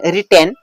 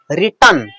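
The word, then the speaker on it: written: तो stories are रिटर्न बाय यू, इसको कई बार लोग बोलते हैं रिटेन, ठीक है, लेकिन ये एक्चुअल जो इसका उच्चारण है वो होता है रिटर्न।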